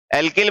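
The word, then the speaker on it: alkyl: क्या ये, अल्काइल, English medium में अल्काइल, बाकी अपनी वाली में एल्किल बोल सकते हो, बट अपन प्रोनाउंस से अल्काइल ही करेंगे, समझ लेना का हिंदी में इसको एल्किल कहते हैं, अल्काइल।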